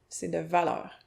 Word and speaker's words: c'est de valeur: C'est de valeur. C'est de valeur. Prononcer « c'est de valeur ».